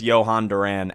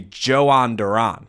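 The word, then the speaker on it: Jhoan Duran: their bullpen, specifically with Johan Duran at the trade deadline. Um, excuse me, Joan Duran. uh we we we got you know the the uh the actual pronunciation from him the other day.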